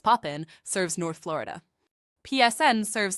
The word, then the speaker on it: POPIN: POPIN, pronounced Poppin, serves North Florida.